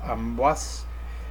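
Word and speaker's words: Amboise: Y esa es una vista lejana del castillo de Ambas de Ambas Amboazas, así se pronuncia, aunque se escribe, pero en fin.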